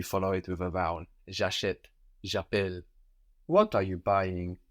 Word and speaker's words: j'achète: J'achète. J'achète. Good. So in this form, for example, j'achète, the E has an accent written on it now to make sure that we really pronounce it.